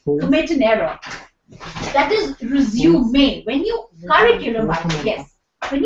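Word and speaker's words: résumé: in that context so with the pronunciation of this word resuming it changes with the context when you say resume your duties after the B break the spelling Remains the Same but the pronunciation becomes different m in Oxford Advanced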